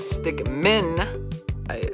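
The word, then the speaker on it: Stickmin: man just i mean henry the stick min that's how you say it because uh i wouldn't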